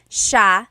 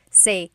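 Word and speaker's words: siya: It's sha sha. The s i y combination makes the sh sound in tagalog. Some regions say sa but in the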